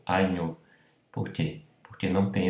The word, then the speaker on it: agneau: Então, oral, agneau, e não anho, agneau.